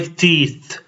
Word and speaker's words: teeth: I brush my teeth. I brush my teeth. Make sure to pronounce the th at the end of teeth.